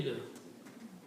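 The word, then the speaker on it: بِالْ: And when you recite, you do not recite this alif again here. You combine B with the lam. So it will be bil.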